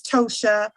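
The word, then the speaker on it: Ptosha: all my name is tosha uh the p is silent so don't let it throw you off when you see it uh the p is completely silent and then on the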